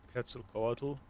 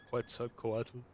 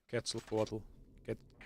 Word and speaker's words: Quetzalcoatl: Aztecs were here since Quetzalcoatl. Right. By the way, that's the correct pronunciation. I have heard people call him Quetzalcoatl. Quetzalcoatl. And of course, that's an Anglicism. Yeah, the correct pronunciation is Quetzalcoatl.